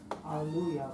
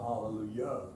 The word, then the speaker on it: Alleluia: I make the last sound rhyme with the first sound. Alleluia, not hallelujah.